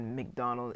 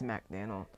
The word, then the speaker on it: Macdonald: So that is the big difference between Mike Macdonald and I pronounced his name wrong in the beginning. I said McDonald. It's Macdonald.